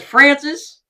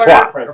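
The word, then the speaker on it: François: And mine has Francis has Jake Poirier. Francois. Francois. I always call him Francis because, you know, that's how it's spelled.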